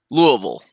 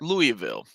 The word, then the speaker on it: Louisville: kara Casanova that is if you live in Kentucky the correct pronunciation of that word is Louisville if you're from outside of Kentucky it is Louisville but we also have